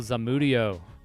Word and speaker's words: Zamudio: Because to me, it looks like it rhymes with studio with a, you know, that's like easy as fuck, you know?